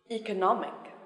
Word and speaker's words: economic: geography geography especially especially and now the stress is on the third syllable economic economic economical economical application application independence